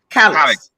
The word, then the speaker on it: Calix: It's Calix. Is that how Alex, you pronounce it? Calix. Alex, that's fine. Yeah. All right. Very The well. Calice with an X.